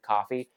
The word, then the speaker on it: Ko-fi: I personally refuse to pronounce it coffee, no matter how much they want you to.